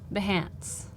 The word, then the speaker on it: Behance: last time yeah Jonas asked how do you pronounce behance Kathleen says Beyonce yeah the founder of Behance actually says the Hance yeah that's how I said to advance I